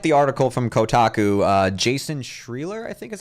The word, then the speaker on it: Schreier: Jason Schreier, I think is how you pronounce it. Schreier, thank you.